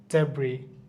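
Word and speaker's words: debris: island Iceland হবে না island ডেব্রি এস উচ্চারণ হচ্ছে না কিন্তু ডে হচ্ছে ভাই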